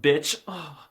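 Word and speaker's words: być: I'm cringing even thinking about saying it, but it's pronounced bitch.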